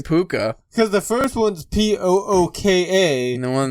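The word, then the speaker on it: púca: differently but it's still puka right i would assume that's how it sounds uh because in ireland and uh gaelic all c's are all k's pronounced so they would still be puka because the first one's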